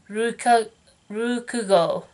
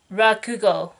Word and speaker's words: Rakugo: and which is called Rukugo. My Japanese is rusty, so I don't think I pronounce it correctly. It is Rakugo.